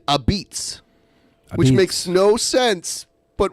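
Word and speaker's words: apizza: they spell it a-p-i-z-z-a they spell it with an a at the beginning and they pronounce it a beats which makes no sense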